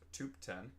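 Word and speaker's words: Thubten: At school, the other kids thought Tubton, pronounced Tupten, was highly intelligent and had no friends.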